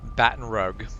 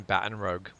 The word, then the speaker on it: Baton Rouge: woman from Baton Rouge she insisted she was in Baton Rogue she lived in Baton Rogue and it's like you don't argue with a person who lives there in what the city is pronounced but also no no it is not bad in Rogue you you could you